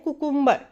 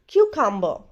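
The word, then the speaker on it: cucumber: बहुत सारे लोग खीरा को इंग्लिश में कहते हैं कुकुम्बर, बट कुकुम्बर is wrong pronunciation. The correct pronunciation is क्यूकम्बर, क्यूकम्बर। एक यू को यू प्रोनाउंसिएशन करेंगे और दूसरा यू का साउंड अ होता है यहाँ पर।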